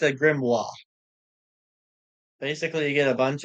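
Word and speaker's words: grimoire: this thing here from The Wizard Towers it's pronounced a grimo basically you get a bunch of mostly useless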